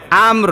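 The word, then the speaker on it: أمر: তো সাকিনই হয়ে গেল আমর মানে আম মিমের উচ্চারণ হবে আর র হালকা উচ্চারণ হবে আমর ঠিক আছে এরকম রব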